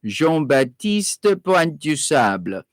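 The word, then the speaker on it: Jean Baptiste Point du Sable: known as jean batista jean baptiste puente du sable that would be the french pronunciation jean-baptiste point du sable he journeyed up the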